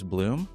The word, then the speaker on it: Bluhm: last name and I want to say it's Bloom but I realized I could be saying it wrong and you're nodding your head that I got it right that makes me feel you got it right Bloom like a flower makes diamonds I made